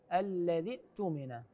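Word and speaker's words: الذي اؤتمن: الايه رقم 283 فليؤد الذي اتمن امانته الذي ائتمن هذه الياء لا تلفظ انتقال من الذال المكسوره الى الهمزه الساكنه في كلمه اتمن فاقول فليؤد الذي ائت من امانته هكذا تقرا ايضا في نفس الايه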